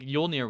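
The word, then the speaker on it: Jólnir: I feel like the J is a Y sound, yeah, soft J, I guess.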